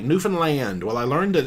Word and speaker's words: Newfoundland: Uh, engineer, how did you like Newfoundland? Well, I learned that it's pronounced Newfoundland, not Newfoundland.